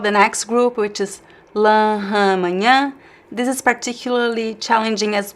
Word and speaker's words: manhã: And the next word, manhã, means morning. Manhã.